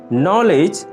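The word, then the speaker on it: knowledge: নো, নলেজ, high, tight. আমরা যখন নো উচ্চারণ করছি তখন কে লেটারটি অনুচ্চারিত থাকছে। একইভাবে আমরা যখন নলেজ উচ্চারণ করছি কে ও ডি লেটার দুটি অনুচ্চারিত থাকছে।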